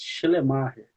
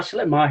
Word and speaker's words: Schleiermacher: pelo menos costumo falar chemar euv que seja pronuncio de uma forma diferente né Danilo é no no alemão mesmo nós temos que dar uma ênfase maior no má né Aí fica esse tá